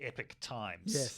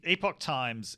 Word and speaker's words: Epoch Times: talking about with the as she pronounced it the epic times so the epoch times is this very very